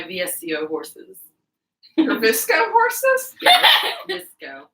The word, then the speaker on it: VSCO: Visco. Is that? Do you actually say it like that? Yeah.